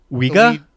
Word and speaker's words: Ouija: Called the Ouija Board, or Ouija? The Ouija Board. Oh. Apparently, both pronunciations are acceptable. All right. Yeah, I've heard. I've heard once or twice. I always grew up saying the Ouija Board. I always did too. But when you look at the spelling, it clearly should be pronounced Ouija.